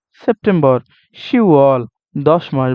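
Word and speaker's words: 시월: আর শিব মানে 10 এই দুইটা ক্ষেত্রে মাস গণনার ক্ষেত্রে নিচের বাচ্চিম দুইটা হয় না ইউকের ইউকের আপনার গিয়কটা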